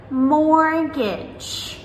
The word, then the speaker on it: mortgage: So words like mortgage, mortgage, M-O-R-T-G-A-G-E.